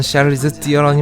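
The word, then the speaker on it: Charlize Theron: 원래 발음은 샤를리즈 띠어런이 맞죠.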